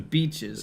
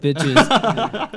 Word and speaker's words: beaches: Beaches, yeah. Beaches, Good yeah, okay. beaches. Beaches, not beach. Yeah. I thought you said bitches.